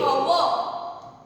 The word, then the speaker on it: hour: Here we cannot speak the hour. We speak sound that is the sound or we can say that there is a silent H.